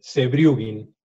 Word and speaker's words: Sewjrugin: Pronuncialo vos el apellido, así no lo pronuncio mal de vuelta. Dale, Sebrugin.